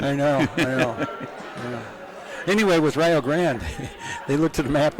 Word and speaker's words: Rio Grande: And that's why they pronounce it Rio Grande. Of course, Ohio's known for pronouncing. Wait, Rio Grande was Wendy's?